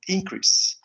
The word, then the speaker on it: increase: So if you notice, the second syllable is higher, you know, or is more emphasized than the first. Okay? So we have to say increase as a verb.